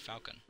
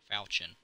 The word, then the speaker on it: Falchion: Enchanted Falcon. Falchion, sorry. Gotta pronounce it correctly, you know?